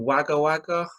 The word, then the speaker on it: Wagga Wagga: Born in Wagga Wagga, New Well, South that's Wales.